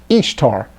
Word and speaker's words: Ishtar: Semiramis became known as Ishtar, which is pronounced, just like it says, Ishtar, referred to Ashtoreth in Scripture, and her moon egg became known as Ishtar's egg.